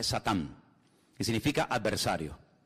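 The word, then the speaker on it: שטן: la palabra la palabra Satanás que significa adversario es un nombre que viene del hebreo en hebreo no se dice Satanás dice satán que significa adversario y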